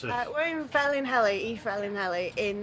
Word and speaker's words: Felinheli: we're actually are we well how do you pronounce it we're in fell in heli he fell in Ellie in North Wales fairly